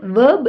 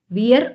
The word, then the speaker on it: wear: Next நம்ம note பண்ண வேண்டியது வேர்ப் என்ன வந்திருக்குது அப்படின்னு. இங்க என்ன வேர்ப் வந்திருக்குது? அணிய வேண்டும் அப்படின்னு வந்திருக்குது. அணிய அப்படிங்கிறதுக்கு நம்ம வேர் அப்படின்னு சொல்லுவோம். வியர் அப்படின்னு ப்ரொனவுன்ஸ் பண்ணக்கூடாது, வேர் அப்படின்னு ப்ரொனவுன்ஸ் பண்ணணும்.